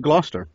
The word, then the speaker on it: Gloucester: over in Gloucester Massachusetts did I say glouster right no no they say glau Chester know how they say it is a blaster blaster ok and slice the mass in books that's why I get the Boston books cuz they say Gloucester blaster yea though I've always